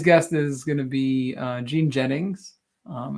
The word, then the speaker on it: Jeanne: um but today's guest is going to be Gene Jennings um it's pronounced Jean um and she's been doing email marketing really